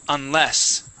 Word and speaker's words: unless: The stress is at the end of the word, unless.